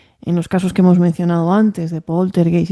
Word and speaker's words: Poltergeist: Es decir, tú dices el poltergeist, ¿cómo se pronuncia?